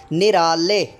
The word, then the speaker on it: نرالے: تلفظ کے ساتھ پڑھیں۔ نرالے، نرالے، نرالے، خالق، خالق۔ اب نرالے نون کے نیچے زیر آ گئی، را پر جو ہے وہ زبر آ گئی، الف پر جزم آ گئی، اور لام کے اوپر